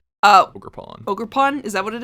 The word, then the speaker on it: Ogerpon: Ogerpon.